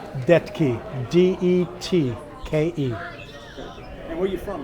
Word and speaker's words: Detke: Like Travis, but it's pronounced correctly. Okay. And your last name? Detke, Dettke.